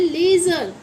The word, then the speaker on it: leisure: ठीक है, ऐसे ही और क्या लिख सकते हैं, LEISURE, इसे बोलेंगे हम, इसकी प्रोनाउंसिएशन है लेज़र, क्या होगी, लेज़र।